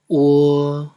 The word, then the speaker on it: wo: Ensuite, wo c'est comme what en anglais.